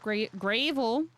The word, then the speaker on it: gravel: Soon the rumble of gravel. It was spelled like gravy, but it's not. Gravel.